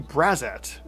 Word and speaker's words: Braxat: and check out the braat at least how that's how I'm pronouncing it cuz X's are usually pronounced like Z's when uh they're not